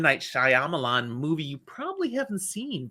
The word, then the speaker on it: Shyamalan: are there M Knight Shyamalan crap I'm looking at it going you are looking at this and trying to pronounce it as English it is not English don't read it that